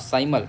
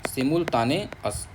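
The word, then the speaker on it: simultaneous: मतलब गलत थोड़ी करोगे साइमल मत बोलो इसको बोलो सिमुल क्या बोलोगे सिमुल सिमुल ताने सिमुल ताने अस बोलो एक बार सिमुल ताने अस एक दो बार बोलो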